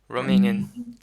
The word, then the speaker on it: Romanian: And when you roll your R, it's closer to the roof of your mouth.